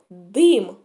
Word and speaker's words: дим: перше слово слово дим дим як я вимовляю його твердо чи м'яко дим вимовляється він твердо будь ласка запишіть слово